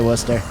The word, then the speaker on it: Worcester: Tit Warchester. I'm not even a true New Englander and I've learned not to pronounce it like that if I don't want to get yelled at.